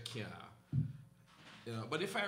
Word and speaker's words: cyaa: So I do that as well, where, because, you know, in Jamaica we don't say can't, we say can't.